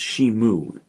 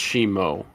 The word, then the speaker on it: Shimo: sorry shimo which is no I think it's pronounced shimu I don't it's pronounced shimo I mean not pronounced it's spelled shimo sorry